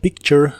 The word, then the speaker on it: picture: que significan una foto la t de la palabra picture suena como el sonido que hace la ch a picture a picture